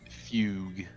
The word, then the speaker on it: Fugue: words on fug fug how do you say that Fugue fug okay I'm going to